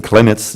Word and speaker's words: Klimitz: Jesse Klimitz, do I pronounce it well? Yeah, okay. Jesse Klimitz.